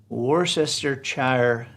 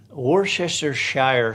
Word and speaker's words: worcestershire: jen andrews she says her fiance always says war sister chair worcestershire sauce worcestershire you know that uh that